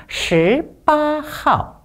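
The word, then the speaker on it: 十八号: 좀 발음이 어렵죠? 10는 권설이 되겠습니다. 그래서 살짝 혀를 덜어주시고 발음해 주시면 되겠습니다. 18号 다음 문장 보겠습니다.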